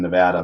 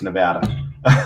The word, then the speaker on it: Nevada: i was living in nevada but and that's how you say it by the way it's nevada not nevada reno's fun yeah not